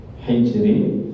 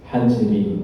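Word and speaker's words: حجر: Wa yajuzul fathah wal kasri fil ha min hijri. Jadi membacanya itu boleh, membacanya boleh di fathah, boleh di kasr. Ya. Hijri boleh apa? Kalau fathah hajri, ya. Huma lughatan, ini ada dua bahasa ya. Boleh semuanya boleh. Hijri boleh hajri.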